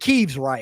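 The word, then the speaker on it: Kyiv: It's a woman who is bunkered down with her children in Kiev, and she says Kiev every time. So I know it's pronounced Kiev because she's Ukrainian and she lives in Kiev.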